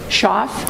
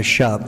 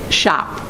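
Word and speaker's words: Schopf: Shoff? Uh, shop. The F is silent. The F is silent. So, shop.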